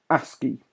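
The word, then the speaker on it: ASCII: digits after each area code I'm moving on a ski outside it again f ski so I asked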